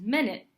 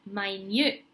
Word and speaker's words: minute: So one way to pronounce it is minute. Okay, minute, which I'm sure everyone knows the meaning, but I'll give you an example sentence. So hold on a second, I'll be there just in a minute. So hold on, I'll be there just in 1 minute. Okay, another way, the same spelling, another way this can be pronounced is minute.